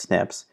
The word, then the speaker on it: SNPs: and from now on we'll defer to them as snips snps or pronounced snips these 30 genes and